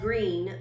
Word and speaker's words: Greene: That's Greene with a silent E at the end, and I just moved here from China.